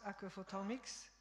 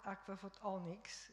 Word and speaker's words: aquaphotomics: So, people already try to pronounce aquaphotomics as not aquaphotonics. In Japanese, M and N sound are the same, so I don't mind. But in English, M and N are different.